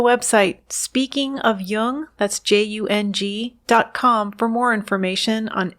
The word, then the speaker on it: Jung: or on tune in just be sure to pronounce Jung with a hard J so with special thanks